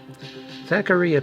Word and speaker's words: Zaccaria: of those games now Zachary a pinball and I'm going to pronounce it that way because that's her that's how some of their tables pronounce it it's an actual pinball